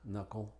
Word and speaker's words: knuckle: Y es muda generalmente antes de la N, como knack, new, knife, night, no, knock, knuckle.